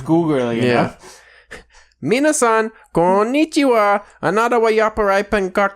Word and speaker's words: konnichiwa: it takes 45 mmm the problem is when they have double letters they extend the word so you have to say it like konichiwa mm-hmm Minah son go